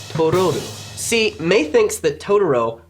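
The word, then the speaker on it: トロル: She names him Totoro, a mispronunciation of the Japanese word for troll, Tororu.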